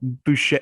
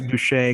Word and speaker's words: Boucher: You even said it wrong. Boucher. It's Boucher because it's in Louisiana.